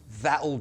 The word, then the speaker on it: that'll: That'll do. That'll do. I've used a glottal T, you don't have to.